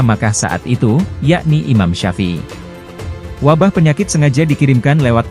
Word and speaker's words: Syafi'i: Iman Supingi yang dimaksud adalah Imam Syafi'i. Pelafalan nama Imam Syafi'i menjadi Iman Supingi, karena menyesuaikan dengan lidah orang Jawa kala itu.